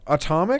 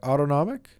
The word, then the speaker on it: autonomic: This is called the nasal cycle, and it's dictated by the same autonomic nerve system that how do you say that? Atomic? Automatic? No, it's autonomic. Autonomic Maybe.